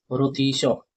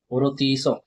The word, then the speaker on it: rôtisseur: Safe रुतिसो रुतिसो। ठीक है? तो रुतीस का फुल फॉर्म होता है आई एम सॉरी इसका स्पेलिंग होता है आर ओ टी आई एस